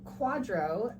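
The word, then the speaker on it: QDRO: need one uh yeah so a quadro uh is a q-d-r-o it is short for qualified domestic relations order um and i just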